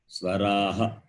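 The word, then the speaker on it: स्वराः: Swaraha. You have to read like that. Swaraha. The H is Swaraha. Ha sound.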